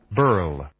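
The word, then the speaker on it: birl: It's spelled B-I-R-L. Spelled B-I-R-L. Burl.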